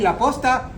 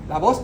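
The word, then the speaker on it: la posta: that you're talking about as long as you make sure you pronounce with a p as in post cuz if you say it with a V laa means horses all right so make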